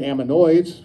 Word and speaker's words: ammonoids: couple examples of ammonoids i better start saying it right aminoids from the paleozoic it's from the paleozoic air before about 240 million years ago the ammonites not ammonites there's a big difference ammonoids is a group